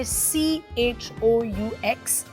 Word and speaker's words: choux: लिखा उसको जाता है CHOUX, but it's pronounced as choux, if you were wondering.